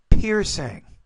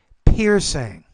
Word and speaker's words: piercing: piercing pain not bad but the piercing you're not putting you're not pronouncing that one enough but the rest of your P were good piercing piercing two a time capsule